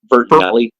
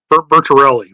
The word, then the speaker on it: Bertarelli: I'll just Uh, leave it at Bert, Bertinelli. Bertarelli, but close enough.